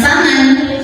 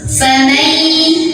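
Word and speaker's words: فمن: Karena ada nun sukun yang bertemu dengan huruf ya, maka cara bacanya masuk sambil dengung. Artinya nun sukun tidak terbaca jelaskan, bukan faman, tapi kita langsung fokus ke ya, masuk.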